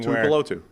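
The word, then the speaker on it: Tuipulotu: It's one of those few names that's actually pronounced exactly as it's spelled. You're just doing that thing Tui Apolotu.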